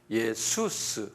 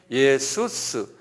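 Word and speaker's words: Ἰησοῦς: 영어론스 또는 그리스말은 예수스 그래요. 이거 똑같이 똑같이 썼는데 예수스 이렇게 한번 발음해 보세요. 예수스 예. 예. 예수스가 우리 우리가 이게 그리스말 헬라말로 예수스 그러거든요.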